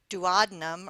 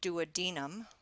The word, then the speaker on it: duodenum: The duodenum or duodenum, depending on how you'd like to pronounce that word.